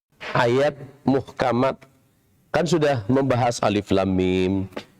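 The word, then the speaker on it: الم: Tapi bacanya diwakafkan di sini. Alif, lam, mim. Begitu ya. Bukan alama. Kalau alama itu kasih harokat. Ya. Alamaro. Tapi kita bacanya nama hurufnya.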